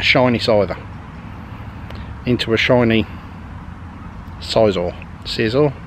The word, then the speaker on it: Scizor: Into a shiny Scizor. Scizor? How do you say it? Skizor.